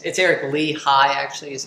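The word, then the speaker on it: Lichaj: How old is Lehaj? Is that his name? It's Eric Lehigh, actually, is how Lehigh? you pronounce it.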